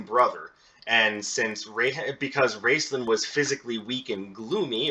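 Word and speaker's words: Raistlin: wrestling her raceland's apprentice i think it's pronounced racelyn actually heartborn so not entirely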